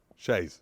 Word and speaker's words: chaise: Shays.